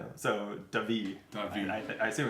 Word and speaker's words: David: Where David, I guess, says, for what it's worth, I'm so awkward about this, but my name is pronounced like the Spanish David. David. So David.